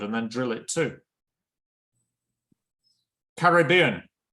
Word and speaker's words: Caribbean: Caribbean. How many syllables? 4. 4. Say it to yourself. Caribbean. Where is the main stress? Caribbean. Caribbean. B. It's on the 3rd syllable, right?